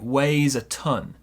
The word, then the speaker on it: weighs a ton: So this one here, pronunciation, it weighs a ton. It weighs a ton. Small stress on weigh, big stress on ton.